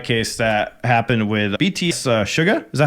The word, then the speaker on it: Suga: was a DUI case that happened with BTS Suga is that how you say his name sua yeah Suga where he was on a moped pretty much